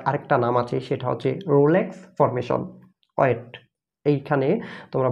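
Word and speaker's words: rouleaux: নাম আছে সেটা হচ্ছে রোলেক্স ফর্মেশন ওয়েট। এইখানে তোমরা বানানটা দেখতে পাচ্ছ সেটা হচ্ছে রোলেক্স, কিন্তু উচ্চারণের সময় এই এক্সটা উচ্চারণ হবে না, অনেকটা এমনভাবে উচ্চারণ হবে রোলো এই টাইপের।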